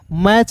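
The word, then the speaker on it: match: मैच पढ़ेंगे। यहां पे जो है दोस्तों टी जो है दोस्तों साइलेंट होगा।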